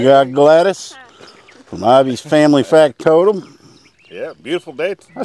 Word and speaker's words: Factotum: We got Anson, and we got Gladys from Ivy's Family Factotum.